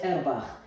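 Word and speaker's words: Auerbach: le plus derbare airbar elle se termine par un ch mais il est allemand c'est pour cela qu'on a qu'on va prononcer airbar ce plexus c'est de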